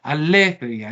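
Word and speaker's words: ἀλήθεια: Miren que los acentos de estas dos palabras, aletheia y acebeia, están en posición proparoxítona, de modo que están ahí a condición de que la última sílaba sea breve.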